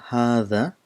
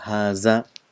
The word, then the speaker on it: هذا: this letter there is you have to bring your tip of your tongue just in front of the teeth in urdu it's pronounced as haza which is wrong the